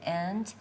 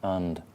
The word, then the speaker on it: and: this word or whatever, and third person singular, the Y, singular present. Present. And you're right, this is a schwa. It's not an and, it's an und, like fish and chips, und.